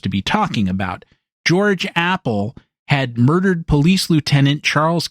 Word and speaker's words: Appel: pronounced his last name Apple, but he spelled it a pel. Now, I've known people by that surname and they pronounced it appel emphasis on the second syllable.